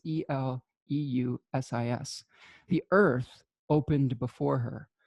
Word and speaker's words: Eleusis: As she was picking flowers in a field near Ulysses, or Eleusis, I don't know how to pronounce that. That is Eleusis.